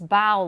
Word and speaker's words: bao: help us remember that you pronounce bao like you're bowing but not like bo like what the kitty's wearing so there's amy she's